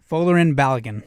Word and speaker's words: Folarin Balogun: Folarin Balogun.